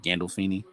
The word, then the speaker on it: Gandolfini: Gandolfini.